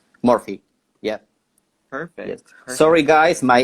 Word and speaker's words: Morfi: name say it properly my name is Murphy like you write it perfect here in Spanish as you write you pronounce no so it's morphe yeah perfect sorry guys